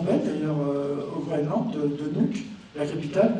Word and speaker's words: Nuuk: Après j'ai fait des vraies petites maisons qui sont belles d'ailleurs au Groenland, de Nuuk, la capitale, Nuuk. Ça s'écrit M-U-U-K, mais ça se prononce Nuuk, ouais, c'est rigolo.